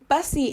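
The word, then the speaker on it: Bussee: but um I mean it's not spelled that same way as busy but it's pronounced busy and like Michael busy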